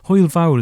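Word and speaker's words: hwyl fawr: this took quite recently oil vowel is how you say goodbye which basically means big fun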